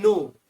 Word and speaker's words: know: नो में के silent रहता है, फर्स्ट लेटर।